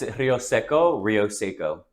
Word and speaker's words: Roseco: Okay, tell me how to pronounce your last name. It's Roseco.